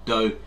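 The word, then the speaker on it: 道: However, the word Dao, pronounced Dao in Mandarin and Do in Cantonese, means the way of nature, or the creative force governing the universe.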